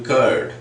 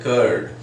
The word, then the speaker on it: curd: In Hindi when we write we use that r for r sound, just as I told you, curd. So people speak it like that, curd, here in India.